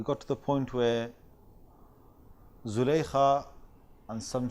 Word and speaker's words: Zulaykha: to the point where Zulaykha, and some say that she has a different name, Rahil, or Zulaykha, or somehow pronounced Zalikha.